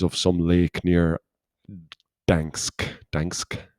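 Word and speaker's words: Gdańsk: Dansk, I think that's how you say it with Dansk with a G at the start as you do.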